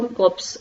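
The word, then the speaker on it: corpse: का कॉप्स ओं मैं इसमें रे जो है वह साइलेंट है तो इसको कॉप्स ही रेफ्रेंस शोषण करते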